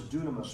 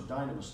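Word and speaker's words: δύναμις: That word is dunamis or dynamis, depending on how different people have pronounced it.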